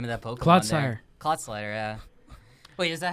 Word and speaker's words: Clodsire: Clodsire. Clodsire, yeah. Wait, is that how you pronounce it?